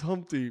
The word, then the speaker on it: Humpty: the way what's up my name is Humpty pronounced with the umpty hey I once got